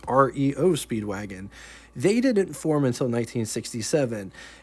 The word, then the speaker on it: REO Speedwagon: In 1915, the legendary Rio Speedwagon first appeared, not to get confused with the band by the same name, but they pronounced theirs REO Speedwagon.